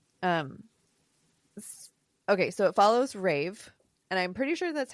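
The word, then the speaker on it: Raev: the book is r a y- VV so Rave okay all right so it follows Rave and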